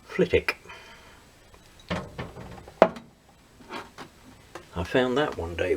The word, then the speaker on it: Flitwick: it says leaning dairies flit wick now that's what it says flip with but that's in bedfordshire england and it's not pronounced flitwick it's pronounced flitik i found that one